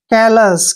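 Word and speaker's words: callous: का उच्चारण ल करेंगे ओ यू एस को हमने स पढ़ना है क्योंकि यहां पर ओ यू एस का उच्चारण नहीं करना है जब भी एस से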